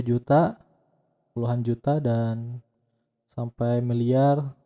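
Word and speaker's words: 十: Di dalam angka itu ada satuan, puluhan, ya, ratusan, ribuan, kemudian puluhan ribu, ratusan ribu, 1 juta, puluhan juta, dan sampai miliar, triliun, ya.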